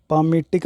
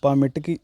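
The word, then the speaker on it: palmitic: पामेटिक अम्ल जिसमें carbon की संख्या 16 होती है। इसको अंग्रेजी में पालमिटिक लिखते हैं, एल साइलेंट रहता है बोलने में, तो पामेटिक अम्ल इसको बोला जाता है।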